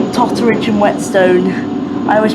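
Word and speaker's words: Whetstone: And wetstone. Toridge and wet stone. Yeah. I don't know why like every time I go to like pronounce it, I always seem to like pronounce it Wellstone.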